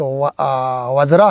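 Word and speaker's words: वज्र: जो पढ़ने में मतलब हम या बेजर ऐसे पढ़ते हैं पढ़ने में इसका जो प्रोनाउंसिएशन बेजर तो इसका असलियत जो संस्कृत का जो एक प्रोनाउंसिएशन उच्चारण होता है तो आर्या वजरा कहेगा इसको तो इसमें जो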